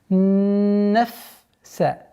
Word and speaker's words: النَّفْس: Обратите внимание, чтобы фа до конца произносилось со свойством фрикативности. Нафса.